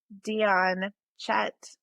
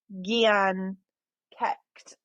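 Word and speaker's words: Dian Cécht: Okay, so this one, well, how I would pronounce it is Dion Chet. It's actually Gian Kecht.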